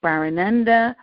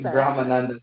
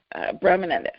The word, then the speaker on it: Brahmananda: We are going to be talking to Barananda. I know I messed that up, so how do you say that last word? It's Brahmananda. Brahmananda, right. Brahmananda.